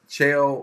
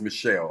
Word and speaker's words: Michelle: Chael or Shale, I'm not even sure which way to pronounce it, so forgive me if I'm chopping this up. Says the husband is busy on the Xbox pretending to be a Jedi. By the way, it's Michelle. Okay.